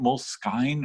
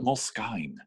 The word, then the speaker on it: Moleskine: Do you say it moleskine or moleskin? Because it's spelled moleskine. No, it's moleskin. But why do they spell it Moleskine? Do they? Yeah. It's S-K-I-N-E, Moleskine. But anyway, I've only heard it Moleskine, so I'm going to go with Moleskine though, but it doesn't,